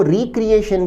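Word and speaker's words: recreation: उसका अर्थ पुनर्निर्माण हो, जब इसका अर्थ एंटरटेनमेंट, अम्यूजमेंट या मनोरंजन के अर्थ में होता है तो इसे कहते हैं, यहाँ इसका प्रोनाउंसिएशन होता है रेक्रिएशन।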